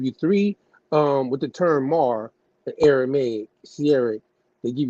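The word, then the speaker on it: מר: today, but anciently at that time, Mishnah Hebrew, today, this Aramaic word is pronounced Mar. They give you the Hebrew way of saying it, but it's still pronounced Mar.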